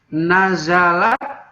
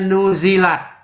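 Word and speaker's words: نزلت: Nazalat, telah turun ayat itu ya. Atau boleh bacanya nuzilat.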